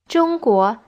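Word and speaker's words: 中国: okay so may goran jungkook is how you say china in chinese jung by itself means middle angkor ino means country so china is literally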